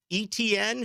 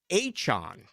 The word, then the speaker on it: Etienne: Did you see the deal today, by the way, Aaron, with Travis Etienne, who came out and said, that is not how you pronounce my name. You pronounce it Travis Achon.